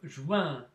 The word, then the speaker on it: joins: Обратите внимание на специфику произношения этого звука ouin. Итак, je joins, tu joins.